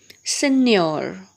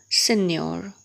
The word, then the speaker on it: Signor: And the last one which is given is Signor. Signor. So as we come across these words, we learn to pronounce them again, bit difficult to pronounce.